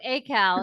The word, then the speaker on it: ACAL: council for adult literacy a cow or a how do you say the uh acronym a cow a cal sorry so a cal if you would please